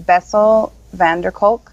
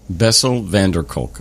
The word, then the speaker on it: Bessel van der Kolk: Bessel van der Kolk, Kolk. Bessel van der Kolk.